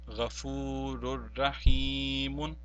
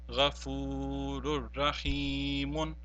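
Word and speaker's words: غفور رحيم: But since it follows by a ra and it becomes the second type of idgham-e-tam, therefore we will not pronounce the tanween here and only say Ghafurur Rahimun.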